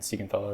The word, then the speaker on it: Siegenthaler: Jonas Siegenthaler, Siegenthaler, that's how it's pronounced.